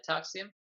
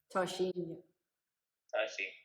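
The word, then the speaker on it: Tarxien: And Tarxium. Tarshim.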